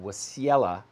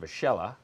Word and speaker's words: Wasiella: And then ESE Entertainment CEO, Wasiella. Actually, it's pronounced Vachella, I now recall.